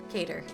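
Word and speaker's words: Qatar: FIFA it was reported that's how you say it cater I'm going to say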